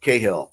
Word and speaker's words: Cahill: chandler raymond chandler but i like cahill the hard c and rick the hard